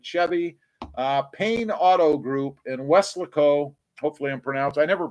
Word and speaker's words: Weslaco: Josh says that, again, it's Josh Landon, salesman at Chevy, Payne Auto Group in Weslaco. Hopefully I never pronounce it right. I always want to say Westlaco.